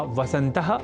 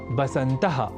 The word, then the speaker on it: वसंत: ऐसे ही वसंत या वसंत और वसंत अतु जैसे शब्दों को बसंत और बसंत अतु लिखना और बोलना भी गलत है और इसी क्रम में